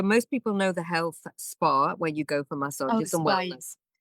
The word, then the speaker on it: Spahr: So Spa is my name with spelled s p a h r like the pronounced like the spa like the health supermarket like the supermarket in the UK.